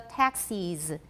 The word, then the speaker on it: taxis: And then most accents take the vowel in the second syllable of taxis, make it different from that in Texas. They're extremely different for me. Everybody, 很多计程车 taxis. Okay, 德州, Texas. What vowel do I have in the second syllable of Texas? It's a schwa, definitely a schwa.